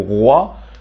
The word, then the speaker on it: roi: Dans ces cas-là, ça se prononce OUA, comme les lettres O et A. O, comme dans le mot roi, foi, moi.